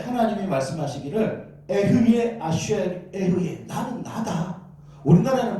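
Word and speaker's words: אהיה: 하나님의 이름을 물어봤을 때 하나님이 말씀하시기를 에흐예 아쉘 에흐예.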